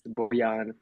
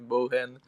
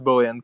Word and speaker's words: Bojan: Cause someone calls me Bojan, someone calls me Bohan, and yeah, it's Bojan. Cause the J is pronounced like a Y in our language.